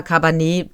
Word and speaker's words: Cabernet: Konsequenzen in Cabernet, ich sag mal Cabernet, weil das ist halt französisch ausgesprochen, triffst du Entscheidungen, manche von geringer und manche von großer Tragweite.